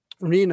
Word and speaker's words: RHNA: it will make sure rena it's pronounced rha it's pronounced arena is a target number